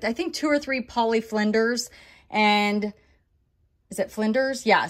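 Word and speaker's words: Polly Flinders: think two or three poly Flinders and is it Flinders yeah so I just found out that it's not poly finders it's poly Flinders everybody told me thanks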